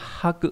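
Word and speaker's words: 泊: Âm ôn đọc là haku hoặc là paku tùy trường hợp.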